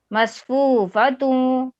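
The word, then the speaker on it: مصفوفة: میم صاد زبر مص فا واو پیش فو مصفو فا زبر فا مصفوفا تا واو دو پیش تو مصفوفتوں واو زبر وا زا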